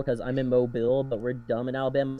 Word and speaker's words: Mobile: hear someone say my name, usually they say Mobile because I'm in Mobile, but we're dumb in Alabama, so we're like, no, it's pronounced Mobile.